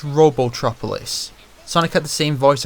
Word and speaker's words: Robotropolis: buy princess Sally's Christmas presents okay one it's robotropolis Sonic had the same voice actor in sat